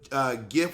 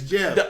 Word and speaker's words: GIF: of GIF is, but the graphics industry pronounces it GIF with a hard G, same as G as in graphics. I've been in the industry for 22 years, and that's how we all pronounce it. But the guy who made it said it's Jeff.